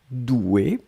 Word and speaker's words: douée: Là, on rajoute juste le e mais la prononciation reste la même.